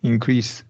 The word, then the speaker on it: increase: here right increase increase increase in sorry I forgot which one this increased or increased no increase would be z sound increased correct or increased